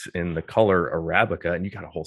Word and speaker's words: Arabica: saw that word and i pronounced it so wrong arabica but it's arabica like the coffee or something it's been arabica in